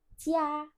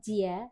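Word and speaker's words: 家: Yang pertama ada cia cia dengan hants yang seperti ini. Cia je dibacanya seperti c ya bukan jia tapi cia.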